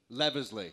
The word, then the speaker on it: Leavesley: How do you pronounce your last name? Leavesley.